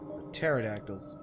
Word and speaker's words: pterodactyls: Pterodactyls. Why does it spell para, but it's pronounced terra?